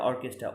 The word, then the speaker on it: orchestra: Next রয়েছে দেখো আরেকটা অর্কেস্ট্রা, ORCHESTRA, অর্কেস্ট্রা, অর্কেস্ট্রা নয় কিন্তু অর্কেস্ট্রা, অর্কেস্ট্রা, CHA-তে এখানে CHE এর উচ্চারণ এখানে কে হবে, অর্কেস্ট্রা।